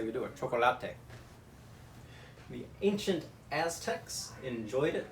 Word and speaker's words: chocolate: very much for that contribution to the world pronounced so poor choco latte in Spanish well see this is a good